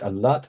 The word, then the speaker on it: Al-Lat: With regard to Al-Lat, Al-A'mash used to place stress upon it, the letter Ta, whereas the other reciters lightened it.